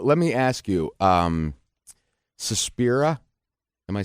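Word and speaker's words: Suspiria: Um, Sespira, am I saying it right? Speria.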